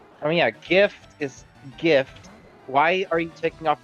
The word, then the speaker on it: GIF: brit in British it's it's it's British to pronounce it with the H I figured interesting I'm learning about culture GIF or GIF it's a gif I don't care